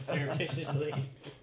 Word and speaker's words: surreptitiously: I've literally never said that word out loud surreptitiously can Stark surreptitiously give me the the clue